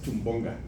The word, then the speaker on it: Chumbonga: lograste pronunciar mi nombre, muchas gracias, Chumbonga.